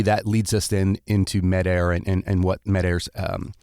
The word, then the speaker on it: Medair: and then maybe that leads us in into med air and and what medaire's um is that how